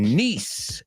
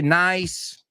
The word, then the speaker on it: niece: All right, the next one, niece. That was another one that I've heard a lot of people say nice or nice.